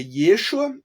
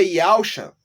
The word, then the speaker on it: Yeshua: então ficaria assim ó em hebraico é Yeshua ainda que alguns lá fala não é yusa conversa tá conversa não tem